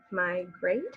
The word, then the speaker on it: migrate: a tea a tea my grade has two vowel sounds that eat on the edge does not make a sound but it officials the a and makes it a long a sound to when we migrate